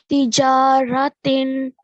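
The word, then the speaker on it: تجارةٍ: Tijaratin tunjikum. Okay. No, the you know when you say tin, right? You're manifesting the sound of the tanween. You have to hide it, which means that instead of tin, it should be tin.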